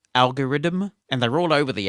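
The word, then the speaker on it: algoriddim: called algorithm and they're all over the apple ecosystem there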